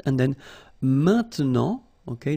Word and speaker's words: maintenant: And then maintenant, okay? Normally we tend not to pronounce this e, okay? So we get this maintenant, maintenant, okay?